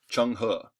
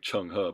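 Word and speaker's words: Zheng He: was a guy named Chun Ha. No, I know that's spelled what you wouldn't expect it to sound like, Chun Ha, but that's Chun Ha, who was a Muslim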